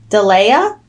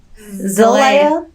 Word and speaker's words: Zelaya: Delea? It's a Z. I mean, Zelaya.